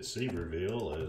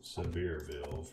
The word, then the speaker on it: Sevierville: spelled it correct but hopefully you do not pronounce it superval as most of the tourists do Sevierville for those who don't know maybe actually the